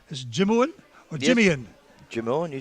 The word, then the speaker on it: Jimeoin: Jimeoin, you said it right.